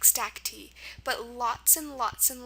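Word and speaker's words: stacte: So, I just want you to know that if you ever hear something ending in the sound E, like stack D, don't be tempted to put a Y there.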